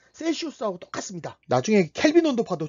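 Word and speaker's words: Celsius: 자, 우리가 흔히 쓰는 섭씨는 C라는 알파벳으로 표현하는데 영단어로는 셀시우스라고 읽어요.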